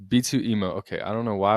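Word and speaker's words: B2EMO: B2 Emmo would B2 B2 emo. How do you say his name? I can't even Did I just have to spoke? I think I'm pretty sure we've all settled on B2 emo. B2 emo.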